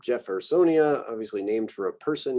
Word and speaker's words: Jeffersonia: Other ones get more of like an English J sound, Jeffersonia, obviously named for a person here. So Jeffersonia, Jovibarba, Joglans, Juncus, Juniperus,